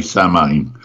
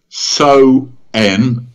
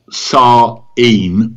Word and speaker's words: Samhain: Except it's not pronounced that way. If you're English and you see it spelt, you will say Samhain. But actually, in the Gaelic, it's So-en or Sa-een, depending on whether you're Scottish or Irish.